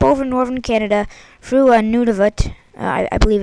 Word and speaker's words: Nunavut: cold air up over northern Canada through a Nunavut i believe it's pronounced in canada and then it basically brings